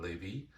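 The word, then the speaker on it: Lévis: Lawrence River in Levy. uh or Levis's if you want to spell it out. Yeah. Um so we're staying at a bed and breakfast in Levie.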